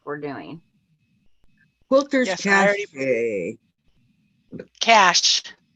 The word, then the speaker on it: Cache: Cash. It's pronounced cash.